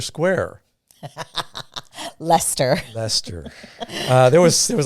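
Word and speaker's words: Leicester: i kept going we want to get to lychester square lester lester there was there was a lot of mispronunciation mostly on my part you did pretty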